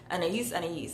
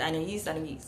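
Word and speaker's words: Anaïs: I feel so weird saying that, Anais. But you guys told me, okay? You guys told me that that's how it's pronounced. So yeah, but it feels weird. Anais.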